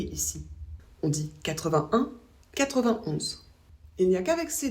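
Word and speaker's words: quatre-vingt-onze: On ne prononce pas le « et » ici. On dit 81, 91.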